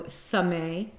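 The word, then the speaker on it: Samekh: The K is silent, so Sameh.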